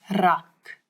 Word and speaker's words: rak: This word it doesn't have the ch that we've been talking about, but now we've got a new sound in Afrikaans that a lot of people in different languages struggle with a little bit, and it's the rrr, as if your tongue